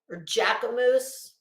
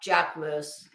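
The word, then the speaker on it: Jacquemus: Bad Bunny wearing Jack Moose. Or Jackamoose. Wait. No, Jack Moose. Jack Moose spelled JACQUEUMS.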